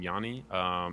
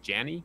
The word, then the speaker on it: Janny: that it's actually pronounced Janny. Yarrow pronounces it like that, kind of like Johnny, but with an A. So it's Janny.